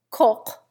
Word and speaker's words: Koch: Footnote: Koch, a common German name, has very hard sledding in America. Its correct pronunciation is almost impossible to Americans. At best, it becomes Coke. Hence, it is often changed, not only to cook, but to Cox, Coke, or even Cocky.